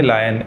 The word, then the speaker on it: lion: spelling है एल आई ओ एन तो जब आई ओ आ रहा है तो फिर लोई यानी ओई की आवाज कैसे आ सकती है तो आपको मैं बता दूं कि यह शब्द का सही उच्चारण है लायन एल फॉर लायन लायन